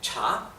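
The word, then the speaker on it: 茶: que era tan fundamental pronunciar bien el tono es el tono ascendente cha Entonces yo decía cha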